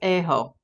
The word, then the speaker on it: Ajo: It's pronounced Ajo. Is it Ajo or Ajo? Ajo. Because I'm trying to pronounce it the Spanish way, like A is ah.